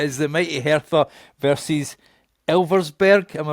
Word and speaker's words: Elversburg: He's going to laugh at me trying to pronounce the second team. So it is the mighty Hera versus Elversburg.